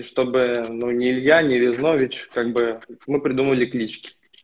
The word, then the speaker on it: Визнович: Не, правильно, как раз-таки наоборот, в команде все путают Визнович. Но сейчас уже в основном все просто на погоняло перешли Виза. А так моя фамилия Визнович. На О ударение.